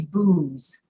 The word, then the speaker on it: booze: see the z e that's going to be booze so goose and loose are there any other